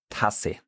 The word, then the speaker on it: Tasse: So, for example, we have a Tasse. Tasse. Tasse. So is that short? That's short.